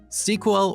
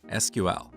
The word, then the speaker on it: SQL: As you talk to different people, you will hear 2 different pronunciations of SQL: SQL or SQL. What is the correct way? Well, it depends on who you ask. And of course, everybody thinks their way of pronouncing this word is the right way.